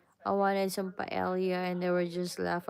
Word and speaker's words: paella: We pronounce paella, what? Right? Paella. But in Spain they pronounce it paella, right?